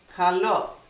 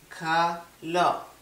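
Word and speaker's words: καλό: You just pronounce the letters, each one. For example, kalo. It's kappa, alpha, lambda, o. Kalo.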